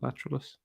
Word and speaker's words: Lateralus: So, and I keep forgetting how to pronounce it, and I don't want to say it wrong. It's Lateralus, isn't it? Lateralus.